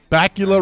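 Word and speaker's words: Bakula: bacula 70 63 69 bacula rhymes with Dracula uh thank you happy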